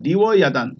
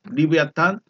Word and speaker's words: 리워야단: 야탄이라고도 부릅니다 이제 그 발음하는 곳에 따라서 발음이 좀 다르긴 해요 리브 아탄 리브 아단 또 리브 아탄 막